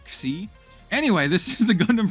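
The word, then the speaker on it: Xi: It's spelled X I, but it's like it's pronounced like KSI, like C.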